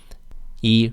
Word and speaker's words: 一: next is yeah it's e John E John because what follows e is a first tone so e remains in the fourth tone e e how about 11 how do you say 11.